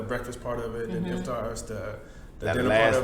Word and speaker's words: Iftar: So what did you have for your iftar? oh man, How you say it? Iftar? Yeah, Iftar. Yeah, nigga, Iftar got is that the shit right. Yeah, you got it.